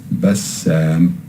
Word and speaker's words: Bassam: Now you notice that there is a stress here on the Seen. We didn't say Bassam, we said Bassam.